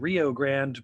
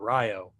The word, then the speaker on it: Rio Grande: know the real river it's called rio grande but when you're an 18th century british sailor you pronounce that ryo i'm sorry 19th century